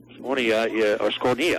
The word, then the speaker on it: Scornia: Scornia, that's the way it's pronounced, the hard K.